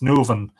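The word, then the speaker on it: nUamhainn: So they prefixed the article and used Uavan, as elsewhere, for Uiv, the whole Irish name, Nuavan, N-Uamhainn, pronounced Nuvan, being anglicised to Novan, which ultimately settled down to Navin.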